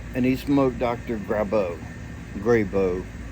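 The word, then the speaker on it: Grabow: he smoked Dr grabo grabo to me being from the south that's the way I pronounce it always have always will so anyway he's he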